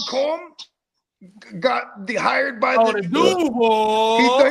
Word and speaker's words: Duval: Do you remember when Liam Combs got hired by the Duval? He said no. He said Duval. Oh, he put the accent on the wrong part.